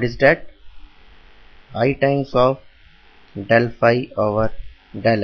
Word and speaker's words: del: The value of or we can write del del, it is del, pronounced as del is equals to I